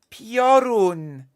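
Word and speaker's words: Piorun: oh come on pron porun p i o r u n porun not pre okay I'll I'll stop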